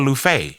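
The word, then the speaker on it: Luffeigh: name i said luffey and they said well how do you spell lou fey and i'm like l-u-f-f-e-i-g-h the first f is silent you know what you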